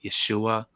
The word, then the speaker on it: Yeshua: more Hebrew name uh it became short and abbreviated to the Aramaic Yeshua or Yeshua so that would be the more proper pronunciation okay okay because you